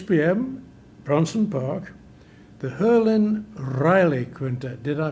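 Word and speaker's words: Herlin Riley: Bronson Park the hurin Riley Quint did I pronounce that correctly yes herin Riley um he's a musician from New Orleans um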